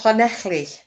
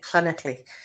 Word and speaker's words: Llanelli: Oh, Llanelli. That's how you say it, isn't it? Llanelli.